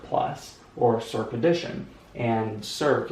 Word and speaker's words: circ: We do this, and then we circle the plus, so we call it circ plus, or circ addition, and circ is spelled C-I-R-C, circ, because it's circle, okay?